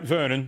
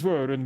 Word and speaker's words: Vernon: Your name's Vernon, was it? Rhymes with vermin, how fitting for someone of your position.